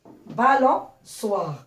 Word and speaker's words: balançoire: Quand il doit se prononcer ce, on rajoute la cédille pour prononcer balançoire.